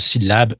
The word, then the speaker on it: syllabe: Donc, par le mot syllabe, je veux dire syllabe, l'accent est sur le mot lab.